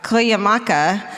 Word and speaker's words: Cuyamaca: and a ranger at Cuyamaca State Park. Cuyamaca. Did you do it? I did. Nice. It's actually spelled like it said.